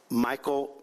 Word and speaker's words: Meechaiel: identified a suspect named Michael uh mik is the way he pronounces it spelled Emma and Mary